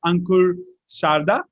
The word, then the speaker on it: Ankur Sarda: for ironman university today we have with us ankur sharda right is that how we pronounce it yes exactly all right awesome we have ankur sada with us and today we are here to